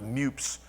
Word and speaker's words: MEWP: changed to mewp or it's pronounced Mups generally within the industry the operator's manual and